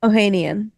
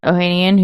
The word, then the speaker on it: Ohanian: Alexis how do you say his last name Ohanian Ohanian who's married to none other than uh what's